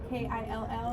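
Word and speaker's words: Keel: for disciplinary basically Personnel files for officer k k i l l so it should be but it's k e e l but it's still pronounced like yeah yep kill and then Adams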